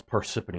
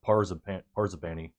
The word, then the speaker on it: Parsippany: I can never pronounce Parsippany. I always call it Parzabani.